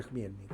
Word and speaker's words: Chmielnik: Se escribe con CH, pero se pronuncia Chmielnik.